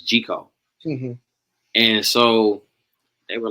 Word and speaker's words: Gic0e: my name down and people kept mispronouncing it and I was like it's G call and so they were